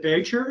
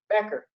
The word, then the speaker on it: Becker: and a trend remember is it badger is that the correct pronunciation your last name becker becker okay um we had such